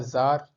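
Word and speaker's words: czar: ये होता है जार, जरीना, सी यहाँ पर साइलेंट है, ठीक है।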